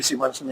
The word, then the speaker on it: Simonsen: In Danish it would be Simonsen, yeah. Okay. Simonsen in English.